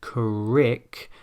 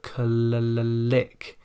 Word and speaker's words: click: It should not sound like crick, but click.